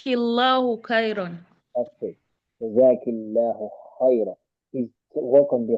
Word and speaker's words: خيرا: Jazakillahu khayra. Is to work on the kha. It's not K. You're still pronouncing the kha as a ka.